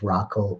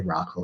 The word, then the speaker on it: Rachel: traditions the marriage of rockell or rachel and jacob i'm going to say rocco here because that's how i think of it it's her hebrew pronunciation of her name um rachel and jacob